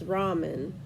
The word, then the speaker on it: ramen: words the Japanese words like Ramen noodles it's Ramen that's how you pronounce it in Japanese uh if you well